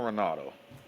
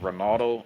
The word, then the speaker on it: Ronaldo: Okay, Cristiano Ronaldo.